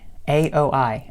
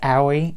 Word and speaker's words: Aoi: A-O-I. Aoi. A little bit hard to pronounce, but he meets him, and a bunch of incidents happen, and he's completely silent.